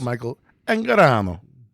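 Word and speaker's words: Michael Angarano: Uh, Michael Anorano. Yeah. From uh Sky High and Gentleman Bronco. It's pronounced Michael Anorano.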